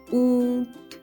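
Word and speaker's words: ऊँट: Now here the pronunciation of N is almost 1/3 of the complete pronunciation of N. So we will not call it oont, oont, no. We will say oont, oont. So the pronunciation of N actually comes through our nasal passage.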